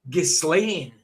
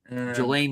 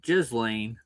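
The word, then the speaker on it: Ghislaine: So, it's actually Gain. You know what I mean? Like Slain like Gain. I see how Let me just get it up again. Gelain Maxwell.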